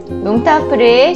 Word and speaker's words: yong tau foo: 용타우프, 이는 강동어 발음이 용타우프.